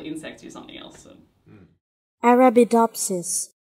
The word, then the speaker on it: Arabidopsis: Arabidopsis. Arabidopsis. Arabidopsis. Arabidopsis. I don't know where the emphasis goes.